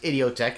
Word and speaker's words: Idioteque: is really the goal today's reaction is idiotech or idiotic or idiotic depending on how you pronounce it idiotech is the general uh pronunciation from 2000's kid a